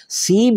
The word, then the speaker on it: سیب: تو ایپل جو ہے اس کے لیے لفظ سیب ہے، فارسی میں اس کا تلفظ سیب ہے، اور اس کو ہم مزید وضاحت کے لیے سیب درختی بھی کہہ سکتے ہیں.